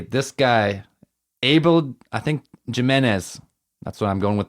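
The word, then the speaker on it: Jiménez: guy Abel I think Jimenez that's what I'm going with the pronunciation which one was thatz oh J J is like an H Jimenez Abel Jimenez Jimenez Jimenez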